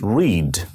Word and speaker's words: read: Like there is a word read, R-E-A-D, read. In simple present, we are saying it read. But in simple past, you write it with R-E-A-D. The pronunciation changes. It becomes read in the past.